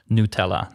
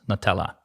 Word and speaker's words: Nutella: Um I would say my favorite uh my favorite my favorite dessert is Nutella and it needs to be pres pronounced as Nutella, not Nutella as some listeners may not be aware of.